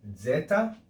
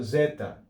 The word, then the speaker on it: zeta: But in classical studies, normally, this is actually pronounced as a double consonant. Z, z. Okay? So zeta.